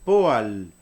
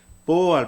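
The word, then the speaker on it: פועל: Entonces la palabra verbo se pronuncia poal. Poal. Vean dónde está la tilde. Poal. No es poal. Poal quiere decir obrero, trabajador. Poal es verbo.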